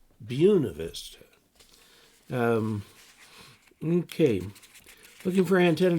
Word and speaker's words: Buena Vista: first syllable dubois and there's a place in colorado that reads buena vista but they won't do that they call it buena vista buena vista um okay looking for